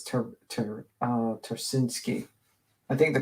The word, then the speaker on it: Ptarcinski: yeah yeah Arena trinsky I guess the p is silent so it's ter uh turinski I think the p